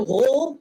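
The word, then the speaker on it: Rohr: Uh, the name on it is War. That's R O HR. If my A level German is still functioning, I think that pronunciation is correct.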